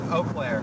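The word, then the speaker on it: Eau Claire: Wait, it's pronounced Oaklair. Okay. Near Oaklair.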